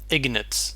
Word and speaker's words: Ignatz: Ignatz, that's how you pronounce it.